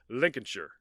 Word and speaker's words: Lincolnshire: here we go I was gonna call um it's spelled Lincolnshire but I know now that it's more like Lincolnshire yeah right sure yeah yeah I know it's